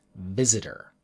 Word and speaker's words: visitor: try the word visitor most Japanese learners will try to say it in katakana be da da da da this is very different from the English word visitor it sounds like the